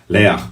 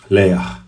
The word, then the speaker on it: Leah: É interessante até que ao pronunciar o nome Leah em hebraico, você faz com realmente um ar de enfado. Leah, porque essa forma final é bem assim, Leah. É um gutural assim de enfado, de ufa, tô cansado.